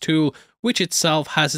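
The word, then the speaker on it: Thule: th station though I have been told it's pronounced tul which itself has its own meaning tul is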